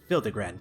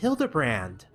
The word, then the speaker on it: Hildibrand: Since parting ways, I've searched every alley and dive bar on Evere for signs of this Hildigrand character. It's pronounced Hilderbrand.